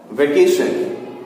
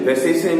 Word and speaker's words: vacation: ठीक है, और एक वर्ड जो हम लोग यूज करते हैं, वेकेशन, VACATION, वेकेशन, वैसेशन नहीं, VACA क, यहां पर क।